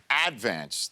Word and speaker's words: Advance: it's the Staten Island Advance they put the they put the accent on the first syllable it's not the St Advance it's the advance yeah okay I know